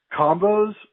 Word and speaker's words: combos: Number 2, combos rhymes with shows.